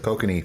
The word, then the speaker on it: Kokanee: Well, he brought back those, what was it, kokanee from before. Oh, kokanee.